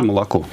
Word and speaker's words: молоко: То есть мы очень четко произносим звук О во всех словах. Никогда его не редуцируем, не говорим такое полу-А немножечко. Миш, скажи молоко.